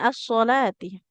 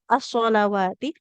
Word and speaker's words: الصلوات: Nah, hati-hati cara bacanya jangan sampai sama antara as-sholawati dengan as-sholati. Nah, soalnya kadang agak terkecoh di sini ya. Nah, yang pertama itu as-sholawati.